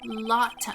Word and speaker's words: Lotta: By the way, it's supposed to be pronounced Lotta. Oh yeah, like Lotta Rice.